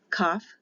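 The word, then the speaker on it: Kaph: k not a c when the dot is inside of it it is a hard sound for k cuff or ket back here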